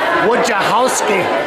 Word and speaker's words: Wojciechowsky: I asked Michael, the proprietor here, how you pronounce her last name, and it's Wojciechowsky.